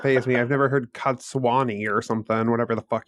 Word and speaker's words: Cadsuane: I've never heard Cadsuane or something, whatever the fuck you said. I didn't say Cadsuane. I said Cadsuane.